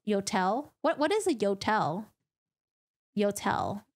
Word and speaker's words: Yotel: Yodels rhymes with hotels. Yotel.